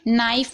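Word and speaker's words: knife: है ठीक है अगर के के बाद एन आता है तो के साइलेंट रहता है और अगर आप चाहते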